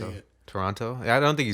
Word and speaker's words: Toronto: Are they from Toronto? Yeah, they're from here. Interesting. Well, I don't say the second T. People, they said they feel like you pronounce every letter and you say it. Toronto?